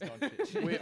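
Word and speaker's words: Dončić: It's Doncic. All right, we It did is Google, Doncic.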